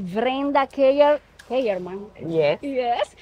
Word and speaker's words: Kellerman: Keyerman. Yes. Kellerman. Pero Keyerman se escribe, está bien.